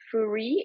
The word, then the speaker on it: Fourie: And John Fourie, is it the correct pronunciation of your name?